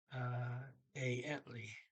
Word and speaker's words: egentlig: I understood egentlig, but according to my notes here, they don't say the first G either. They say a ently.